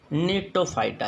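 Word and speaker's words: Gnetophyta: और चौथा है भाई नीटोफाइटा। इसमें जी साइलेंट होता है, GNETO, नीटोफाइटा।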